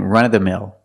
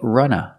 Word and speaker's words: run-of-the-mill: started today we're learning run-of-the-mill run-of-the-mill is used as an adjective pronunciation run-of the mill you can pronounce it with v run of the mill but usually you hear people say Runa run of the mill